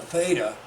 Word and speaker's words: theta: then the polar angle the theta right this guy rhymes with Veda but I've got to